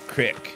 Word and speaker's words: creek: I've always pronounced it creek, but in this game they call it crick.